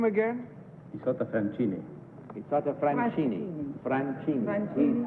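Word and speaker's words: Isotta Fraschini: How do you pronounce the Isotta name again? Isotta Francini.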